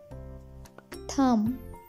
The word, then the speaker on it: thumb: So pronunciation rule number one is, if M comes before B, then B will go silent. For example, lamb, thumb, climb, dumb, tom, comb.